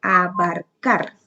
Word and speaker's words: abarcar: Algunos ejemplos son abarcar. Abarcar lleva el acento en la última sílaba.